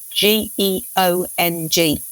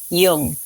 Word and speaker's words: geong: But if you see it written down, it's Geong. So you wouldn't, with our modern pronunciation, you're not going to make the connection until you know that oftentimes the G in Old English is more of a Y sound.